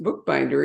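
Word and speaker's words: Boekbinder: And I guess it's pronounced bookbinder, even though the spelling is South African, Boek, bookbinder, or Dutch, whatever you want to say.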